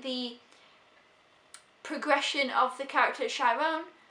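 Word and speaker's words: Chiron: progression of the character chyron shyron is that how you say his name it's been a while sh yeah says on the back here that's must have be how it says and yeah I I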